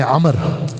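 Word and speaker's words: عمرو: नहीं जाता ऐसे ही अमर का लफ्ज के अंदर यह वाव साइलेंट है इसको पढ़ा नहीं जाता लेकिन वाव की वजह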